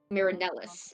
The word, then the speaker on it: Marinis: of mirus aora okay Marinis Marinis not marilus how how do you